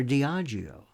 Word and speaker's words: Diageo: drinks giant, this colossus Diageo. That's the way I pronounce it, or Diageo.